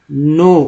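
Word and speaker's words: know: All, ready, नो, OW को आ बोलते हैं, N लगा तो एक्चुअली K साइलेंट है, नाउ। अब लोग शुरुआती जो पढ़ते हैं बच्चे लोग कनाव पढ़ते हैं, क्योंकि K का भी तो उच्चारण होता है, K को भी तो पढ़ना है तो बोलते हैं कनाव। गलती हो जाता है, पढ़ना है नो।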